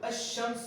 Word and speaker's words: الشمس: تو الشمس والقمر، یہاں پر شین سے پہلے لام کا استعمال ہے لیکن تلفظ میں نہیں ہے.